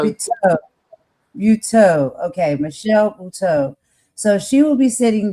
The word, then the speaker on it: Buteau: It's Buteau. Buteau. Buteau. Okay, Michelle Buteau.